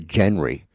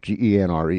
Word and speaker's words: genre: I always want to say genry because that's how it's spelled. Ge n re e. But it's genre, right?